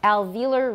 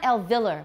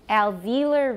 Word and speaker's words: alveolar: watch the r in alveolar we're speaking general american so we have very clear r's remember your r's please okay alveolar ridge and it's not elvillar was a ve once more alveolar ridge there we go